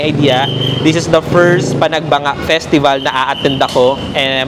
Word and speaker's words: Panagbenga: kahit ako rin naman ang basa ko sa pag-pronounce nung festival na yun is panagbenga festival. Pero nung nagre-research kasi ako ng mga pupuntahan namin and mga nakakapanood ako ng vlog and sa balita na rin ang basa pala or pronounce doon is Panagbanga Festival.